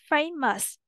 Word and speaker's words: famous: nhạc] có có từ fame famous là nổi tiếng là một tính từ nó nhấn trọng âm đầu nha nha bạn nam cô